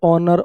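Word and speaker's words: honour: और अच्छा समझ में आएगा, नीचे वाले देखो, एच साइलेंट है, आर आयर उत्तराधिकारी, आयरस कोई लड़की उत्तराधिकारी हो, ऑनेस्ट, ऑनर, ऑनररी, एसएमएस समझ थोड़ी है ये, एसएमएस अ की आवाज है पहले, आरटीआई, एमएनसी, एलएलबी।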